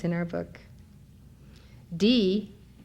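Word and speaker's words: dhīḥ: D, which is spelled D-H-I-H, but is pronounced D-E-E, is the bija, or seed syllable, of Manjushri.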